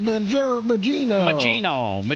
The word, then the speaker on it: Mangione: Luigi Magino.